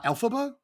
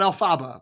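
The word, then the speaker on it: Elphaba: pronounce her name uh alphaba right not Alaba which is how I wanted to say it every time I read it yes okay um sorry Jen um but there they're scouting alphaba I'm assuming Oz is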